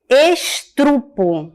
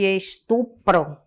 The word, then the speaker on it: estupro: ao invés de perguntar estrupo ao invés de estupro cardeneta caderneta né então